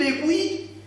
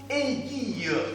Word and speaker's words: aiguille: Attention mes amis, on ne dit pas une aiguille, mais il faut bien prononcer une aiguille.